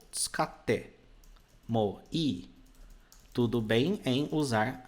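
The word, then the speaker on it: 使って: Nós temos aqui, ó, tsukatte. Nós temos esses dois t's. Quando você estudar a escrita japonesa, você vai aprender um fenômeno onde ele dá uma pausa na pronúncia.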